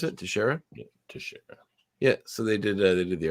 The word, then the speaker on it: Teixeira: Is that how you pronounce it? Teixeira? Yeah, Teixeira.